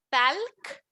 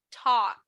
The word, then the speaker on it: talk: Aquí, chicos, no voy a decir talc. Es como si yo quitara esta L de aquí. Entonces no suena talc, suena talk.